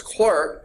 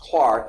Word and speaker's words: Clerk: James Clark Maxwell it's looks like it's clerk but it's really pronounced Clark he was Scottish they do strange things